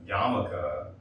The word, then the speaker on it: yarmulke: So personally, I did not know that yarmulke was spelled like that. There's an R, there's an L in there.